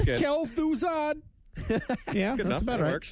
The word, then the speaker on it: Kel'Thuzad: so you have to tell me about the pronunciation on some of this stuff guys the next ramos it's kel'thuzad yeah enough about it works nice okay well